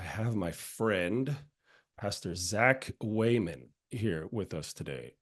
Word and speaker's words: Wehman: effect of like yeah it's pronounced way man like someone going all the way for Touchdown you say he's going